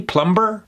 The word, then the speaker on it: plumber: Would he pronounce that B, plumber? No. That B, gone.